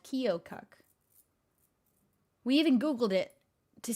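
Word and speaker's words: Keokuk: in iowa that we went to was called kyokuk we even googled it to see how you pronounce it that's how you pronounce it we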